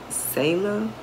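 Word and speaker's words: Selah: Now, this is a different subscriber, and I believe you pronounce her name Sela, S-E-L-A-H. I hope I'm saying it right.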